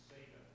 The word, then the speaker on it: Bethesda: gate pool at Bethesda I Call Bethesda and it's not Bethesda it's a different pronunciation which Jim will correct me on the original was Beth Betha thank you I'll try that Beth